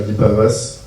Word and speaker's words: Guipavas: la vie municipale à Guipavas, en Bretagne. Je viens de Lille, donc je ne sais pas si je dois prononcer. En breton, c'est bien. En breton. Guipavas. Ok, Guipavas.